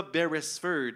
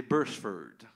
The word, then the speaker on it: Beresford: Parce que vous savez que ça ne se prononce pas Beresford, hein? C'est Bursford.